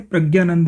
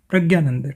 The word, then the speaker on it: प्रज्ञानंद: विनिश्चय हो जाता है कि प्रज्ञानंद जो है वो अगर हिंदी में बोला जाएगा तो इसे प्रज्ञानंद ही बोला जाएगा, प्रज्ञानंद, ठीक है। और जब इसे संस्कृत में बोला जाएगा तो प्रज्ञानंद बोला जाएगा, और तमिल में प्रज्ञानंद बोला जाएगा।